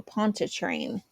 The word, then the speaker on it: Pontchartrain: Anne Street, Congo Square, and Lake, here we go, Pontchartrain. Yes, gold star for Jamie because I pronounced it right.